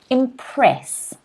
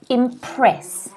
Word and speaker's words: impress: that practice okay so the first word today is impress impress okay notice the stress here is on the second syllable and the reason